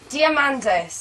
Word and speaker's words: Diamandis: me cuz I know quite you how to pronounce it diamandis diamandis diamandis that's the Greek half of your